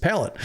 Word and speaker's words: Pallette: I've heard it pronounced both ways. I need to get to the bottom of that. But it's Pallette. Is it Pallette? Okay, because it's watching him in Arkansas. It's Pallette. Okay. Because in the South, I think they do not abide by the French pronunciation, just palate.